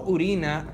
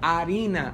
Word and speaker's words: harina: a comer tortillas harina No no urina harina harina es otra cosa mija lo que sale de tu bueno de ahí pero harina con h con h muda de hecho pero harina Es